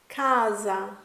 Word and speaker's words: casa: was the letter s often when s is singular it has a Z type sound like Rosa Kaza but when the S is double it has a clean clear sound rasa casa benissimo thank you so